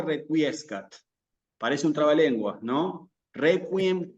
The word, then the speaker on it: requiescat: Y requiescat.